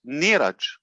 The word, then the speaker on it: Neeraj: His Indian pronunciation is Neeraj.